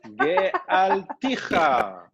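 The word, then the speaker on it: גְּאַלְתִּיךָ: Li, lecha, lach, ge'alticha. Gealticha. Remember, this one is silent. Dieses Vokal ist stumm.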